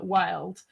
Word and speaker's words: Wyld: that you were like, you had to pronounce wild. Maybe it was like Wyld or whatever, because it was like the Y thingy. But actually, in the audiobook, they said Wyld.